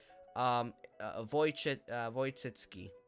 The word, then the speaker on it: Wojcicki: Wojcicki. That's literally, and she doesn't know that, and I'm like, oh wow, that's surprising, because this is like the W is pronounced like a V.